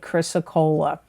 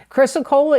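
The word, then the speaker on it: chrysocolla: y s o c o l l a chrysocola chrysocola is a healing stone it brings Tranquility peace intuition patience and unconditional love chrysocola can strengthen the body's resistance to illness and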